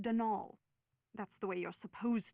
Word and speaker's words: Donal: not Donald mind you there's no D at the end so it's pronounced de nul that's the way you're